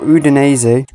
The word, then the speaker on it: Udinese: Okay, next up we've got Udinese. I believe that is the correct pronunciation of this football team.